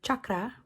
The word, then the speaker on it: chakra: Well, chakra or chakra, to pronounce it correctly and less white and American, means wheel.